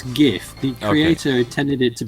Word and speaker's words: GIF: What's the right way for the G pronunciation? Is it GIF or GIF? It's GIF.